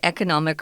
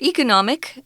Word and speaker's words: economic: say the tsmc is an economic or economic you can pronounce it either way backbone for taiwan's economy